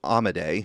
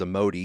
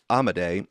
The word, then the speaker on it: Amodei: So Dario Amodei, who I have previously pronounced as Amodi because I'm just reading it and not going by the way everyone else is pronouncing it, Dario Amodei is the CEO of